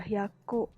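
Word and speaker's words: 百: Kalau berdiri sendiri dibaca hyaku, artinya 100.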